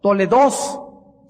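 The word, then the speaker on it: תולדות: Toledoth se escribe como suena Toledoth, y con H al final, TH al final, y significa registros históricos.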